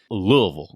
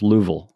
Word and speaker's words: Louisville: It's it's you got to make sure it's just Louisville. Like it does. There's no there's no s in there whatsoever. Yeah. Well, I have a friend who lives in Louisville and he said it's two syllables. Louisville, you know, is the way he says it.